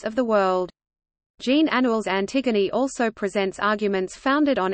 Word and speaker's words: Antigone: century BC in English it is often distinguished from its antecedent by being pronounced in its original French form approximately Antigone the play was first